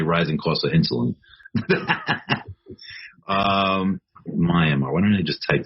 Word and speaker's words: Myanmar: Myanmar, is that how you say it? Mm-hmm. Yes, nice. Myanmar.